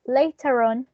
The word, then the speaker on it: later: For instance, in the case of later, in a non-rhotic accent, we will say later, later. We wouldn't pronounce the final R sound like later. We will say later. But if we have, for instance, like this, like in this case, in which we have a following vowel sound after the R, when we have the word later on, we are going to pronounce that final sound.